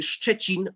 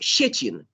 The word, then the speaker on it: Szczecin: The next problem, I didn't expect, to be honest, is the sound szczy. The Polish city Szczecin or szczęśliwy. Ukrainian people always pronounce it like sh, szczęśliwy, or Szczecin. It's not correct.